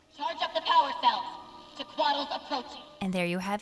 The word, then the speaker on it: Tequatl: Tequatl is found in the Splintered Coast within Sparkfly Fen, also called Tequatl or sometimes just Tequila Sunrise.